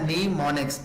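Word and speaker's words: mnemonics: ठीक है, लिखने में आपने क्या स्टूडेंट्स एम को लिखना है, लेकिन पढ़ने में क्या कि आपने एम को साइलेंट कर देना है। आपने आवाज किसकी देनी है, साउंड एन का। लफ्ज क्या बन जाएगा, नीमोनिक्स।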